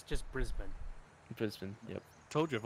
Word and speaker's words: Brisbane: like from American English, that's a silent E. So we always can say Brisbane. I mean, English is weird. We have no rules. Because there's no rule that says when a vowel is silent, so I can definitely see how that gets people. But I've always heard Brisbane.